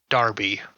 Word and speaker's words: Derby: We were in this bar in in Derby cuz I got to pronounce it with an A even though it's spelled with an E because English.